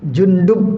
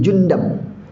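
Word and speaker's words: جندب: Ada hadis yang terakhir nih, dari Wa'an Jundub, ada yang bacanya Jundab, tapi kalau dalam kitab ini dikatakan bidommil jim wa fathid dal, berarti dalnya kasrah, wa fathah, berarti Jundab, ya.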